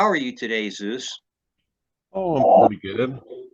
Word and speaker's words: Zeus: researcher his name is Zeus hopefully I pronounced your name right Zeus yeah welcome to the show and welcome to